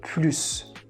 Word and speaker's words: plus: If this word has a positive meaning, like more, we need to pronounce S. For example, je veux plus. Je veux plus. Je veux plus de chocolat. So here, plus means more and it has a positive meaning, so we have to say plus.